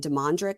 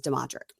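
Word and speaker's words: Dedric: deadric now I think last week I was calling him deadric but there is no n so I apologize it is deadric I'm glad you have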